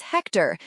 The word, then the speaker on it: Hector: Question 1 answer is Hector. Note the H is silent.